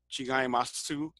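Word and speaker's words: 違います: letter U in it, chigaimasu, it's actually oo, it's the unrounded version.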